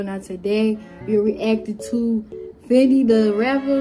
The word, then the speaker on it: Fendida Rappa: Now today we're reacting to Fendi the Rapper, and that's how you say it, Fendi the Rapper featuring Cardi B.